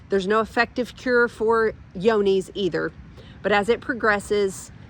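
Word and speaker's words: Johne's: we also tested for the disease called yonies um it's it's actually spelled like with a j j o h n n s I believe it affects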